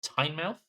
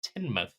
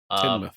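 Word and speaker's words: Tynemouth: Um, so we drove down to I thought it was pronounced Tiny Mouth or Tainmouth. Uh, it turns out it's pronounced Tinmouth. Tinmouth.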